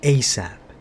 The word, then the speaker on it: ASAP: response is yes sir asap pronounced asap and acronym off as soon as possible delay stop seize